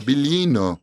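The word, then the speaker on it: Biglino: Bilino seria em italiano, se escreve com GL. Esse é um som de L italiano.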